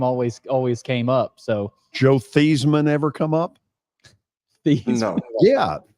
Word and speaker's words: Theismann: it to Theismann to rhyme with Heisman.